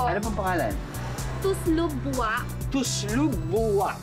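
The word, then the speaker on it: tuslob buwa: As always, hindi ko pa rin mapropronounce ng tama yung local dish. Please help me. Opo. Ano pang pangalan? Tuslog buwa. Tuslog buwa.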